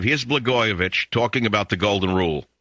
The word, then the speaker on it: Blagojevich: Blagojevich rhymes with itch.